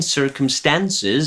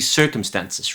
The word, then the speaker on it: circumstances: The lyrics are, we were blind to unforeseen circumstances. I think this is the first mispronunciation because the word should be circumstances, right? And not circumstances. It's a matter of stresses.